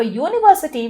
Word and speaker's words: university: And for university, when you say university, the sound is U, Y-U, right?